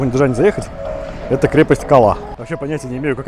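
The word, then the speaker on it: Калъа: Так, крепость Кала, походу, найдена. Да, именно так, крепость Кал, твердый знак, А. Произносится, наверное, Кал-А. Не Кала, не крепость Кала, а Кал-А.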